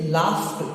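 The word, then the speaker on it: laughed: अगर उसमें हम ईडी जोड़ते हैं तो उसका प्रोनाउंसिएशन ट हो जाता है। इसे लाफ्ट, इसे क्या करेगा, लाफ्ट।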